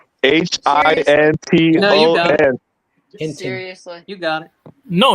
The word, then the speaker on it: Hinton: I'm saying that name wrong. H I N T O N.